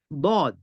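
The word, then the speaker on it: ضاد: তারপর আসতেছে দদ, দদ, দদ, দদটা উচ্চারণ হবে একটা মিনিট, দদ, দদ, দদ, দদ, দদ, দদ, দদ, দদটা উচ্চারণ হবে জিহ্বার গোড়ার কিনারা।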